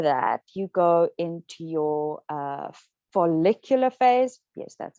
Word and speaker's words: follicular: So then after that, you go into your follicular phase. Yes, that's how you pronounce it.